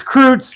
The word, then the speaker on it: Kreutz: But it's Kreutz, right, Paul? I am saying it correctly. Okay. I love it when you say it, though, Revick. It is fucking awesome. Yeah, Revick, he uses the traditional German pronunciation.